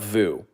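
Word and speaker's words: VOO: in treasuries what about Vu why would you buy V I don't understand Vu Vu rhymes with poo never forget that Vu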